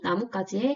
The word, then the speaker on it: 나뭇가지: 연이 나뭇가지에 걸렸어. 자, 나뭇가지는 나무와 가지가 결합된 단어인데요. 앞말이 모음으로 끝이 났고요. 뒷말은 된소리로 발음되기 때문에 중간에 사이시옷을 표기해줍니다. 나뭇가지, 나뭇가지 둘 다 표준 발음이고요.